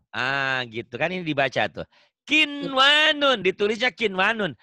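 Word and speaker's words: قِنْوَانٌ: Kikwanun. Kin, kok kik? Kin. Kin, ya sayang. Ayo baca. Kinwanun. Harusnya idgham, tapi tidak dibaca idgham. Ini harus dibaca idhar.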